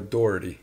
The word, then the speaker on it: Doherty: Okay, because I know Dougherty's, but you're a Doherty. It's Doherty, yeah.